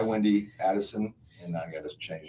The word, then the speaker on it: Adelson: Actually, it's spelled right. I've said it wrong. Adelson.